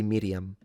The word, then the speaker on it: Miriam: It's an uvula, but it is my opinion that biblical Hebrew spoken at the time would have been with a rolled R. That's what I think. So I would say Miriam. Not sure about the stress, though.